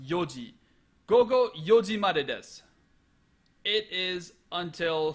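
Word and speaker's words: 四時: with the time marker the hour marker it's pronounced yoji go yoji it is until 4:00 p.m.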